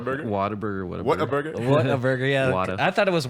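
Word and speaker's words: Whataburger: water B water burer water water a bur what a burger yeah I thought it was water Like Water Burger for a while then I I was like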